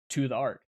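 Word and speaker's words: ToTheArk: drinks for tyler so to the ark pronounced to the art just as one word was a youtube channel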